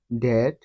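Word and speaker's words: debt: পরে টি থাকলে ওই বি অনুচ্চারিত থাকে যেমন ডি ই বি টি দ্যাট ডি ও ইউ বি টি ডাউট এস ইউ বি টি এল E subtle এখানে প্রতিটি শব্দে বি এর পরে টি রয়েছে যার কারণে উপরের এই নিয়ম অনুযায়ী প্রতিটি শব্দে বি এর উচ্চারণ সাইলেন্ট হয়েছে অথবা বি অনুচ্চারিত রয়েছে আশা করি সকলেই বুঝতে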